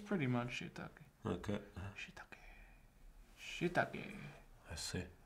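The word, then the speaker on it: shiitake: it the whole thing with uh it is pronounced shitake right shitake yeah cuz I could think of other pronunciations but they'd be wrong it's pretty much shitake okay shitake Shake I see is it Japanese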